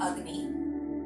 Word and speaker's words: Agni: It's spelled Agni, but it's said Agni because A's without a line over them in Sanskrit are a sound like in bus.